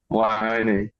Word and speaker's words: Weihoneg: So the W makes sort of a V sound. It's German.